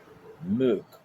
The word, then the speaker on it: môk: pardon, un autre o avec un accent circonflexe k puisque la voyelle est longue. Et ça se prononce meuk.